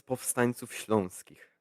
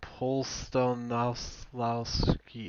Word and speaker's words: Powstańców Śląskich: so this is Powstańców Śląskich. Okay, cool. It's a really hard name, but yeah. I'd appreciate the pronunciation because you always poke fun at me when I'm like pronounce it. I'm like Polstonowski, and you're like, okay, yeah, sort of there, but not really.